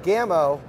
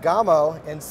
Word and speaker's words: Gamo: var Barcelona Spain and the word Gamow in Spanish means deer so that is how they pronounce it they're here in the